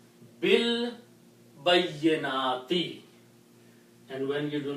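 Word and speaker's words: بِالْبَيِّنَاتِ: When you recite this B, then you do not pronounce this alif, but combine this B with the lam. Bil bayyinati.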